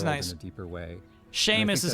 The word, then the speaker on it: Seamus: Seamus is how you pronounce it.